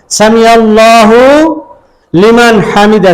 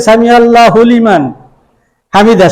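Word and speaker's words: سمع الله لمن حمده: বরাবর উঠাতেন এবং বলতেন সামি আল্লাহু লিমান হামিদা শব্দটা কেমন সামি আল্লাহু এই আলাদা শব্দ লিমান হামিদা এটা আলাদা শব্দ কিন্তু আমরা উচ্চারণ করি সামি আল্লাহু লিমান হামিদা শব্দটা এভাবে হবে না সামি আল্লাহু লিমান হামিদা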